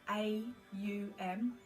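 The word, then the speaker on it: aum: oms in western world we think om as in om um but actually it's a u m so three syllables they're all linked to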